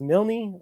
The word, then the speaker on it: Milne: Is it pronounced Milne?